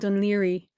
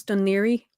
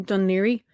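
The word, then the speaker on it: Dún Laoghaire: to pronounce it and every time i hear someone try to pronounce donnery other than don leery like my soul dies a little bit so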